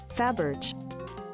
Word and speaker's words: Fabergé: I deduced that the Faberge.